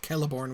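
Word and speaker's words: Celeborn: and mispronounced that right Kelly Bourne clearly it's pronounced Kelly born with a K right when he changes it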